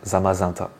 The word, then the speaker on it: Zamazenta: voilà et du coup ça doit se se prononcer normalement zamazenta magenta zamazenta voilà bon pareil personnellement je vais je vais garder le zamazenta parce que je préfère mais normalement on devrait dire zamazanta voilà et le dernier